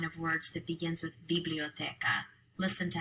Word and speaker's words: biblioteca: So if you take a look at the line of words that begins with biblioteca, listen to how I say these words. Biblioteca, biblioteca. The stress is on the te.